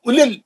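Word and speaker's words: أولي: पे सुकून नहीं है, वाव साइलेंट है, सिर्फ पेश की एक हरकत। उलिल, जल्दी पढ़ेंगे, उलिल अलबाब। यहाँ पे देखिए, वाव भी नहीं पढ़ेंगे और लाम के बाद का या भी नहीं पढ़ेंगे, वो भी साइलेंट है।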